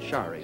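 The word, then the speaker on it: Sari: You spell it S-A-R-I, but you pronounce it Shari, is that right?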